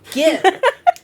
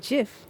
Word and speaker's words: GIF: He said it's pronounced GIF.